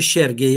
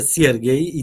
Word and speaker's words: Siergiej: Znaczy na wschodzie jest to imię, nie wymawia się Siergiej jak sierpień, czy sierota, czy sierp, tylko wymawia się Siergiej i tam jest to imieniem, a Aleksander jest nazwiskiem.